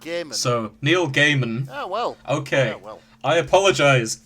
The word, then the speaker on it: Gaiman: himself on twitter so is it guymon or gaming apparently it's pronounced game so neil gaiman oh well okay i